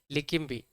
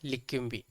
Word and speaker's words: Leqembi: लेकिम्बी, लेकिम्बी आपको याद रखनी है, ठीक है।